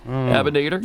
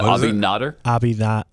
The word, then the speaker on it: Abinader: Is that how you pronounce his last name? Abinader. Yesterday, I'm maybe not as up on my Dominican Republic presidents as I probably should be. Abinader. Yeah. Abinader.